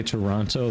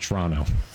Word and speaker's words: Toronto: it is getting crazy if you say Toronto they'll know you're American it's pronounced Toronto uh there there I mean